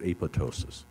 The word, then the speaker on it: apoptosis: a fancy name it's apoptosis or some people don't pronounce that p in the middle and they call it apoptosis uh it comes from